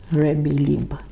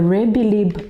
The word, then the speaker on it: rebbilib: which was around the Rebbilib. Yeah. The Rebbilib exercise, it's not English, it's not Fijian, it's actually a Marshallese word from the Marshall Islands, and it's spelled Rebillib, Rebbilib.